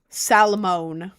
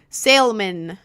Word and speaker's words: salmon: I also dislike it when people pronounce salmon without the L. Salamone. I had salmon tw Oh. Oh god. I had salmon twice on my trip. Salmon. How the hell are you pronouncing salmon, bro? Salman. Salman. Salman. I think the L is silent, bro.